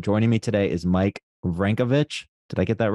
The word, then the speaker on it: Vranjkovic: Joining me today is Mike Vranjkovic.